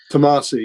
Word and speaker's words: Tomasi: If I pronounce that right? Tomasi, yes.